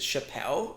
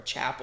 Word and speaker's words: Chappell: Is it Chappelle or Chapel? Chapel. That's how it's pronounced.